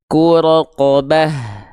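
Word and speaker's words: رقبة: roqobah fakqu roqobah roqo Perhatikan fathah-fathahnya ya mulutnya gimana nih fakqobah bedakan fathah yang tebal vokal Cong pada vokal o dan fathah yang tipis fakqobah yaqobah Oke cara daftarnya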